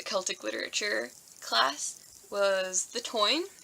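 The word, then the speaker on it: Táin: One of the things I read for the Celtic literature class was The Toyne. Doesn't really look like it would be pronounced like that, but it is.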